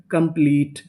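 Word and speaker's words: complete: मैं आपको बता दूं कि अगर आपको इंग्लिश के किसी भी मीनिंग के आखिरी में इ लिखा मिले तो हम लोग इ का उच्चारण नहीं करते।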